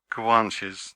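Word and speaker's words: Guanches: plane senen I am tempted who were the guanes did I get right that time yes perfect perfect pronunciation the guanes were the original Aborigines if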